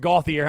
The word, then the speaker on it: Gauthier: So, Kevin C. Gauthier is pronounced Gauthier. I'm saying he actually addressed that yesterday. So he said it's just pronounced like it's not like French or anything. It's just Gauthier. It's just like normal Gauthier. How you'd think it'd be pronounced.